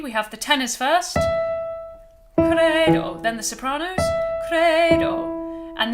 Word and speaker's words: credo: And the o is going to be a bright Italian o instead of do. Not credo, but credo. Okay?